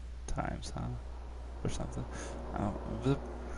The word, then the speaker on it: Thames: sorts of west afghan thames or times it's time it's pronounced times huh or something oh